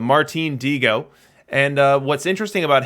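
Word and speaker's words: Martín Dihigo: this stream ever so this is actually martin diego that is the correct pronunciation at least according to the sources that that i was looking at uh which definitely was not what i intuitively uh said but martine diego and uh what's interesting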